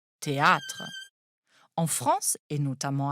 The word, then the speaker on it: théâtre: vient du latin Theatrum le rôle de l'accent circonflexe est ici d'allonger le a il faut donc prononcer théâtre en France et notamment